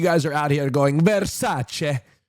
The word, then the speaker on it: Versace: Versace. Uh, you've been letting me mispronounce it the entire time.